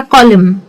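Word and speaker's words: column: Spelling में एम एन जब आता है तो स्पेलिंग को जैसे हम जी में करते थे वैसे ही इसको थोड़ा सा खींचेंगे। जैसे कि मैंने बोला ऑटम या डैम या कॉलम।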